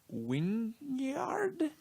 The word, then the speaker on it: Wijngaard: with art by Casper Wynyard. And I say it like that because it is Wijngaard.